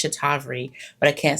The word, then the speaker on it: Cetaphil: It's Cetaphil, but I can't say inositol.